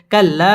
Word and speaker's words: كلا: تشديد ولا حرف كلا জবরের বাম পাশে খালি আলিফ মদের হরফ একালিফ টেনে পড়তে হবে কাল্লা সাও জবরের বাম পাশে